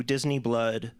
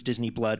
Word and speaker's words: Disiniblud: Um, so Disney Blood, which is how it's you you have to spell it differently for legal reasons, but uh, the group is Disney Blood, which is kind of